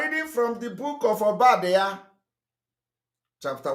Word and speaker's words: Obadiah: For those who are pronouncing it Obadiah. No, it's not Obadiah. It is called Obadiah.